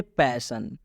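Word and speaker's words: passion: से समझाते हैं जैसे पैशन पैशन में आप देख सकते हैं ओ के बाद से एन आया हुआ है इसलिए इस ओ का उच्चारण अ की मात्रा से किया जा रहा है जैसे में प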